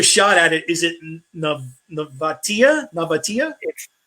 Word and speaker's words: Nevatia: Is it Nevatia? Nevatia? It's very close, Nevatia, but you're very Nevatia.